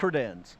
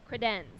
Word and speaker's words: Credenz: Pronounce the name so that I don't say it wrong. Credenz. Credenz.